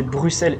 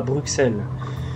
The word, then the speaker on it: Bruxelles: Alors, sachez que c'est Bruxelles et pas Bruxelles. Le X se prononce en S.